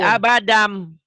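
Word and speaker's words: أبدًا: Nah ini dibacanya Maci, abadan, N, jadi hilang N-nya Maci. Abadan, kan ada N. Jadi abadam, N-nya jadi M.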